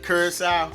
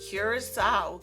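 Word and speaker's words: Curaçao: Curacao?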